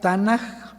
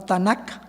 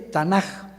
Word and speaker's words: Tanaj: la k sin embargo cuando ellos intercalan las vocales se pronuncia tanaj No tanac se oye tanaj que es la Biblia